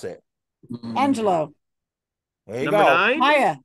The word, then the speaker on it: Angelou: She's from the Lou, it's not Angelou, it's Angelou. Oh, I looked it up. Ask Susan how to pronounce it. Angelou.